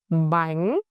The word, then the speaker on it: bánh: Our fourth syllable will be bánh, bánh, bánh.